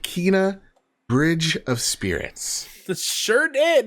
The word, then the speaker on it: Kena: Yep, I got to play an hour of, and I learned because of the gameplay demo, it's pronounced Kena, Bridge of Spirits.